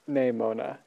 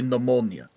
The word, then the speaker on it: Nemona: Also, I just realized that her name is actually like Nemona. Like Nemona. Okay. Yeah. Anyway, what a wonderful name. What a wonderful name. I still say pneumonia.